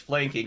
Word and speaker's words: Flanking: think it is that in the pronunciation guide it is written out as flan king um i i will